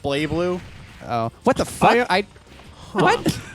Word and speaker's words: BlazBlue: It's pronounced Blay Blue.